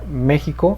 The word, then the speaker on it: México: el español se pronuncia méxico es una palabra esdrújula que se acentúa en la e la equis va a sonar como jota entonces tenemos mexico y